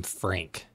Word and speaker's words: Phranc: and that's where she adopted the name frank yeah with a ph and a hard c yeah and this is